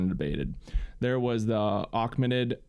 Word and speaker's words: Achaemenid: There was the Achaemenid. I'm mispronouncing that. Also, it's Achaemenid. I think it's a Achaemenid. Achaemenid. There you go. Verified.